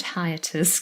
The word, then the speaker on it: hiatus: this hiatus and actually the word hiatus contains an i a diphthong and then a schwa so you can maybe